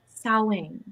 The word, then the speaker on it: Samhain: I was like, first, it's pronounced Samhain.